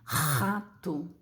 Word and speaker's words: rato: Esse R aqui, diferente desse, ele é muito forte, ó. Vou pronunciar. Para mim é até difícil fazer, mas é mais ou menos assim, ó. Rato, rato. Dá a impressão que você tá limpando a garganta, sabe?